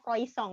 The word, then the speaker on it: croissant: Biasa orang tulisannya croissant, tapi bacanya croissant.